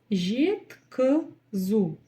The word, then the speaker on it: жеткізу: Жет, как пишется, так и читается. Е значит е. И никаких гвоздей.